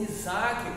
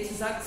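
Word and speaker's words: יצחק: é o seu filho conhecido como itac ou Isaac como nós bem pronunciamos é itac significa ele Rio Isaac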